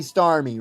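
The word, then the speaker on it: Starmie: It's It's got to be star me, right? Cuz star you is like you. So star me is like me. But it's spelled funny because it's I E.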